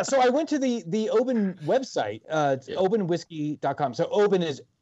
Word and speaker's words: Oban: I just poured some Oban 14 into some ginger ale with some ice, and I gotta say, it's like a whole different drink.